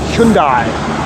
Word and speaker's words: Hyundai: we pronounced it as Hyundai and then the advertisements came along and pronounced it Hundai telling us that we're all doing it wrong making us feel insignificant